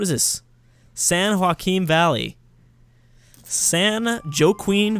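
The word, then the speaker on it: San Joaquin: this San Haim Valley San jqueen Valley I'm sure a lot of people thought I'd pronounce it like that I am almost guarantee about 75% of people watching this thought I was going to say San Joe Queen Valley but not today crack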